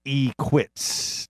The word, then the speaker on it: Equitz: That's how you say it, too, by the way. It's Equitz.